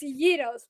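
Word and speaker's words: gyros: put in the gyos so you say like the Yos it's basically like say say Euros please no say it how you say itos gy roll yeah there you go it's Yos but basically ziki and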